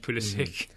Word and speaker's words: Pulisic: Pulisic specifically says, I want it pronounced Pulisic. Arena's going Pulisic.